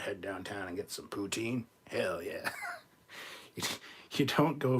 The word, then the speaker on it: poutine: as misspelling poutine or putin that's how it's pronounced putin no one says it like that except for the french it's poutine however or putin putin sounds better but no